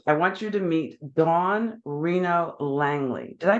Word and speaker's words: Dawn Reno Langley: guest today um I want you to meet Don Reno Langley did I pronounce that correctly Don you certainly did oh